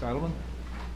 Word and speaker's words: Adelmann: Adelmann? You pronounced it right this time.